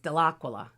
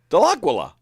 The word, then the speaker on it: Dellaquila: No, I think it's really supposed to be pronounced Dellaquila. Dellaquila. Yeah. But I think they just went with Dellaquila when he passed through, you know.